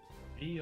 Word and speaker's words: ye: Pronounce the. We're just idiots. Literally, the character that we all see as a Y is actually something for TH.